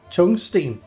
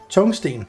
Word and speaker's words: tungsten: In English, you I don't know how you would pronounce pronounce this tungsten, but it's actually a Danish word. Chungsteen. It's Chungsten. That's the Danish word.